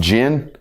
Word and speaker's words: Jen: Now, I've been told this is pronounced Jen.